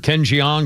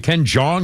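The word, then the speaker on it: Jeong: Is it Jong or Jang? the actor Ken Jang or Ken Jang who was in Community and Hangover movies and Dr. Ken, I don't know how it's pronounced. Ken Jong or Ken Jang? I think it's Ken Jong.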